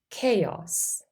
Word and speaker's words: chaos: have a C Sound in words borrowed from Greek we also say the C Sound for C the spelling is usually c h in those words listen to these examples